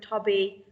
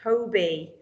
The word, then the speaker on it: Toby: But actually, phonetically, sounding it out, it says Tobby, but this name is Toby.